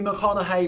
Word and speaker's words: McConaughey: No, Matthew McConaughey, which he says rhymes with what would Madonna say.